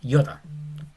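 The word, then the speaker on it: ἰῶτα: Y es una I corta como en 5. No es iota, iota, es iota. Bien junto.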